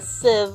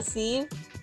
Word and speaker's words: sieve: a colander or a sieve a scene what did I say c c that's not how you say it no like Steve without a tea yeah it seems I